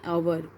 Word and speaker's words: hour: also vowels like an hour you can see h is here consonant but the pronunciation of this word starting with our like an hour an